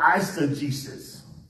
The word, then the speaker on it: eisegesis: answer Jesus the opposite of exegesis is called I said Jesus I said Jesus is spelled e i s e g e s